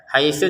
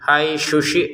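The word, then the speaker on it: حَيْثُ: Haitsu tidak ada panjang langsung ke syin ya. Haitsuum. Perhatikan di sini tsa, di sini syin. Harus beda. Kalau dua-duanya dibaca syin hausyi. Nah, salah. Jadi, haitsu itu tsa.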